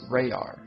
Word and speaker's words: RaYaR: has introduced herself as RaYaR, and that basically is spelled R-A-Y-A-R. And it's basically kind of looking at raw, and then raw backwards, and then of course separated in the middle with the Y.